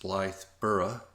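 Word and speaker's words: Blythburgh: small English village of Blythe Berg I think it's pronounced Blythe borough we noticed the holy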